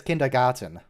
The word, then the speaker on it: kindergarten: right he's a generalist how come nobody says kindergarten it's always garden why not garten with a t sound maybe it's going to